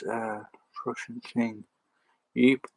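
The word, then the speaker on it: Ypres: it's a russian thing eep was nevertheless called wipers from 1914 to 1988 but yeah it was called wipers they couldn't pronounce eep uh or yeapers so they call it wipers that's uh very hello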